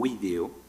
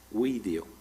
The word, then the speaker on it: video: avanzando el latín, lógicamente una palabra como video, que tendría, con la pronunciación clásica, tendría 1, 2, 3 y 4 sílabas, tiene sus dos primeras sílabas, son dos vocales, video.